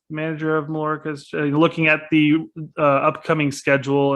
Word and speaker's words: Mallorca: And am I pronouncing that properly now? Mallorca.